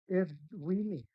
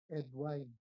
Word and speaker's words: Edwin: Honorable Ed Winnie, did I pronounce your name correctly? Ed Winnie. So the E is silent, like not like wine, Ed wine.